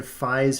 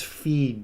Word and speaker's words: Fi: up you said f farewell are you a giant or something you idiot it's fee dumbass Zelda Skyward Sword that's one of the Zelda pronunciation uh debates where I don't think a single person still says F in the big 2025 like